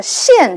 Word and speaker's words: 见: 最后这个见字，我们看是见，但是它是一个通假字，所以读音啊读成它通假的现字，意思为出现。